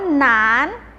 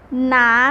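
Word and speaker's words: 男: คำ แรก ค่ะ อ่ะ คำ นี้ ค่ะ อ่าน ว่าน หนาน ออก แจ้ง ด้วย ค่ะ หนาน เธอ เก่ง มาก ขนาน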